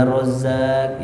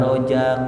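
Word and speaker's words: رزاق: Ya Rozak, ya Rozak, jangan ya Rojak, ya Rojak.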